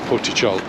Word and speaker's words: Portixol: tit Port tit CH the x is pronounced like a CH so poy CH I think it'll be